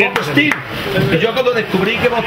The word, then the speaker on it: Bob Steele: Claro, Bob Tele es Bob Steele.